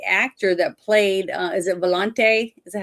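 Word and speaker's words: Volonté: But the other thing that was better is I could see that the actor that played, is it Volonte? Is that how you pronounce Mhm.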